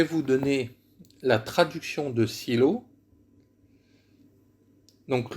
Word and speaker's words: Shiloh: donner la traduction de silos donc le mot silo qui se dit shiloh en hébreu toujours pardon on le